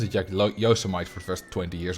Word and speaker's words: Yosemite: But mostly, you know, Yosemite, Yosemite. I pronounced it Yosemite for the first 20 years of my life.